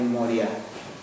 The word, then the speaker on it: Moriah: Ustedes habrán escuchado ya en otra parte de la Escritura la tierra de Moriah. Termina con H, ¿sí? Por eso se acentúa así y no lleva tilde.